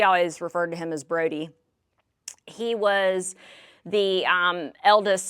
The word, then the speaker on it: Brodie: There's no A in there between the O and the D, but some people called him Broady. We always refer to him as Brody.